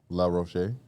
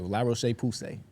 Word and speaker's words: La Roche-Posay: How you say it? La Roche. That's how I would say it too. La Roche-Posay.